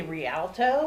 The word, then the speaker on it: Rialto: The Rialto.